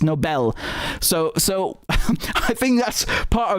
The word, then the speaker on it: Nobel: phonetically and also linguistically, people hear the word Nobel Peace Prize and they think it actually means like it's a noble person. It's not spelled the same way, and it comes from the guy's surname who created the prize. Okay, it's Nobel.